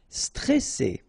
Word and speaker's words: stressé: Stressé. Okay, remember you get double S here, so you pronounce it really strong while it's between two vowels. So C, alright, and then here you get this E before the double S, so it will open the pronunciation of the E. Stressé, stressé.